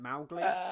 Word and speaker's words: Mowgli: Well, you got to pronounce it like Americans say Moscow, like Mowgli.